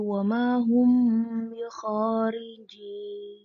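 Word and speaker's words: وَمَا هُمْ بِخَارِجِينَ: Di sini ada wamahum bikharijin. Nah, di sini ada mim sukun bertemu dengan ba, maka membacanya samar di antara dua bibir menjadi gunnah dua harokat menjadi wamahum bikharijin.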